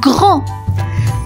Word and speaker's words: grand: Grand. Grand. Grand. Grand. Et oui, les copains, grand s'écrit G-R-A-N-D. Grand, la lettre muette, le D à la fin.